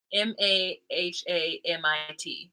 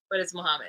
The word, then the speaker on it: Muhammad: the way she spoke, that everybody spells it Muhammad, like Mahamit, because the way she would pronounce his name, Muhammad, but it's Muhammad.